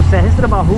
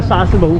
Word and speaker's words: सहस्त्रबाहु: तो सहस्त्रबाहु को जो ब्रिटिश सेना के लिए प्रोनाउंसिएशन नहीं दे पाते थे, तो सहस्त्रबाहु का शास्त्रबाहु कर दिया उन्होंने।